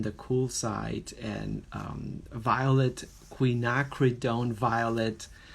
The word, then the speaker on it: quinacridone: I found this gorgeous quinacridone violet we've been trying to pronounce this color for a while Queen Queen knock read own so quinacridone are a